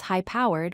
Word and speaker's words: high-powered: Try to pronounce high-powered, which means very powerful. Notice the stress is on the first word.